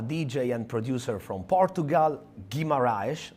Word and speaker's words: Guimarães: In this episode, a DJ and producer from Portugal, Guimarães, right? Guimarães. Is the right pronunciation?